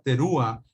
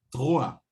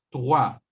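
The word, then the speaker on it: תרועה: Pero la palabra terúa no es lo más correcto para pronunciar. Acuérdense que el hebreo es un idioma que es gutural, por lo tanto, la forma más correcta para poder pronunciar esto sería como terúa o trua, ¿de acuerdo? Yom trua. Esa es la forma más correcta. Yom trua. Suena como francés, pero no, es hebreo gutural.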